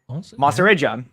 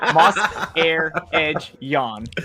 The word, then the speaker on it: Mahserejian: No, moss, air, edge, yawn. It's 4 syllables. Moss, air, edge, yawn.